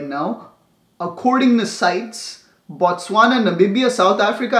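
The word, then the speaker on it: CITES: and endangered species is also known as sites so just like City it's spelled like city with a sea but it's sights they they down listed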